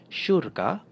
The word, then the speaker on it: syurga: Next one, so this when you put an S and Y together it will make the "sh" sound like the way sheep in English so it has this "sh" sound. Example, Malay is syurga and this is asyik.